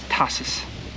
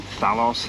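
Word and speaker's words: Tassos: It's Tassus. I was calling him Thalos and Titus and all kinds of manner of things, but that's just me.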